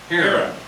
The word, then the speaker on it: Haran: Oh, Haran. How you spell it?